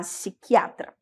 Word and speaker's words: psiquiatra: o psiquiatra tá bom mesma coisa a gente vai aí suprimir o p e vai falar psiquiatra se escreve da mesma